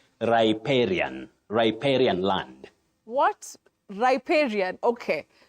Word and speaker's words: riparian: R uhuh raran no riparian no you say riparian riparian land what riparian okay another one riparian that is the pronunciation Betty okay riparian land it is thank